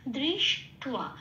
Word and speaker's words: দৃষ্ট্বা: এই ওয়াটাকে টয়ের সাথে পড়িয়ে দিলে কিরকম উচ্চারণ আসবে? টুয়া, তাহলে এখানে উচ্চারণটা হবে টুয়া, দৃশ টুয়া, এইটা শব্দটা পেলাম।